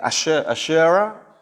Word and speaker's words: Asherah: Pero uno de los principales, las imágenes es la primera esta, Asera. Okay. Asherah se pronuncia en inglés, o Astaroth en español.